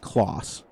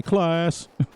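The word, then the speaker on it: Claas: to me the actual it's actually pronounced close um but me being from the united states i say class um the company itself started in 1913.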